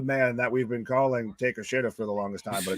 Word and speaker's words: Takeshita: That's how you're supposed to pronounce it. It's Takeshita. Takeshita. It's not spelled Takeshita at all. Why didn't you It's not anywhere near that.